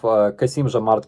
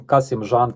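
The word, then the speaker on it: Kassym-Jomart: In August last year, instead of Kasimzhamart Kemelyevich Tokayev, Huilo called him Kasimzhan Kemelyovich, and in January he called him Kemel Zhanayevich.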